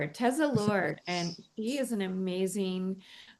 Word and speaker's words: Teza Lord: Tza. Tesa Lord. Tesla Lord.